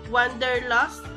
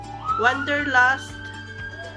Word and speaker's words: Wanderlust: nothing and so if you Michael Kors wonder wonder lost wanderlust bum pronunciation wanderlust but you've been telling I read